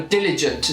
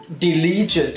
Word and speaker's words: diligent: And so diligent, the stress is on the first syllable. But you can hear loads of teachers saying diligent or delete. Anyway, wrong pronunciation, and I can't stand